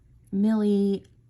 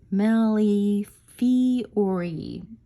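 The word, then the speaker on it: Millefiori: to say this word so it's melly fee ori nelly fiori so just so you know that way i don't pronounce it incorrectly thank you to one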